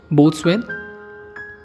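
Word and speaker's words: boatswain: तो इसकी सही प्रोनाउंसिएशन सोल्डर नहीं, सोडर है। Next word is बोथस्वेन।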